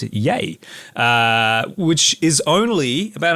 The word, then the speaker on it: Yea: That is spelled Y E A but it's pronounced Yay.